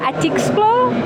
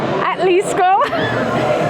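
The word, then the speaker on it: Atlixco: Y miércoles a Atixco. Atlisco.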